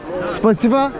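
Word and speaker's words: спасибо: Spasiba?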